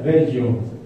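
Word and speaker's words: Velho: Y originalmente era V-E-L-H-O. Se pronuncia Bello.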